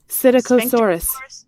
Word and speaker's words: Psittacosaurus: Psittacosaurus.